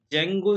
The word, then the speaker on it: Django: जेंगो जेंगो की spelling है जे से नहीं है डी से है डी जे ए एन जी ओ यहां पर डी साइलेंट हो जाता है तो आपको लिखना है